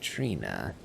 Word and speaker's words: Trina: I am Numithrander, and we pick up once again with Thallier and his interesting revelation about Saint Trina. And now I finally know how to pronounce that bloody name, Trina.